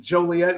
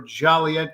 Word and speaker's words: Joliet: Tim Seaton, folks, of the Illinois Rock and Roll Hall of Fame and beautiful Route 66 in Joliet or Joliet, depends on how you pronounce it, where you're from.